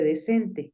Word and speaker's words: decent: Vamos con la siguiente, decente.